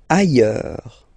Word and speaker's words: ailleurs: Ailleurs. Look, final S not pronounced, and then you've got this y, y, y sound.